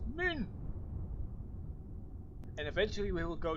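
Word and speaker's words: Mün: And I'm making a point here that it's not pronounced moon with two O's, but with an U. Or an U umlaut, as in moon, as some people prefer it. See, it's pronounced moon.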